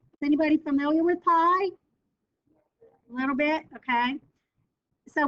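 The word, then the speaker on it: π: This symbol is pronounced pi, P-I, it's a Greek symbol, and we're going to explore what that is next.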